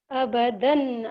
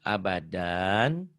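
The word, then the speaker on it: أبدا: Rim kemudian yang ini abadan abada bukan abadan jika dihentikan bacanya abada gitu ya ya kalau dihentikan gitu abadan abada Yauma yang ini ya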